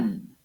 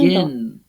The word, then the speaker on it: begin: Begin, forget, submit. Listen to where the stress is again. Escuchemos dónde va el acento. Begin, forget, submit. The last syllables are stressed.